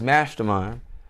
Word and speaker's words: Mvstermind: name properly so uh it's mastermind but it's spelled with a v so that's m-v-s-t-e-r-m-i-n-d it's like upside down